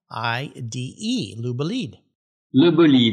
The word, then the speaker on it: LeBolide: does lubaleed mean and i'll remind our listeners it's spelled l-e-b-o-l-i-d-e lubaleed in eden you pronounce it like a real